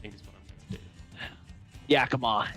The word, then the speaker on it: Yakima: is what I'm do Yakama is how that's pronounced ah oh hang on